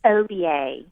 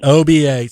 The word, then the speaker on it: Oba: It's OBA. Oh, that's a nice. As if it's just 3 letters, OBA. OBA.